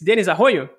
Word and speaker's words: Denis Arroio: É assim que se pronuncia, Denis? Denis Arroio? Exatamente. Olá, obrigado pelo convite. É isso mesmo, está correto o nome.